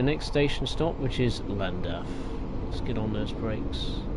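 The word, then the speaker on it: Llandaf: Well, we're pulling into the next station stop, which is Landaf. Let's get on those brakes. Oh, break. Okay, here we are at the next station stop. Lond. That's how you say it correctly.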